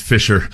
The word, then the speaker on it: fissure: I just always remember being amazed that it's pronounced Fisher.